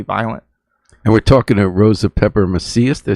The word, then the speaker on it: Rosa Pepper-Macias: And we're talking to Rosa Pepper-Macias, did I say it right?